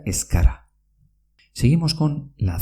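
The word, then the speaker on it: ez gara: Es gara, que quiere decir no somos, se pronuncia escara. Repito, es gara, que quiere decir no somos, se pronuncia escara.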